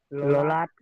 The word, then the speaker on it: ললাট: এইবারে তুমি ওই লল্লাট আর যাত্র উচ্চারণটাকে ঠিক করে পুরো সেন্টেন্সটা উচ্চারণ করো। ললাট লিখিত খণ্ড না যাও যায়।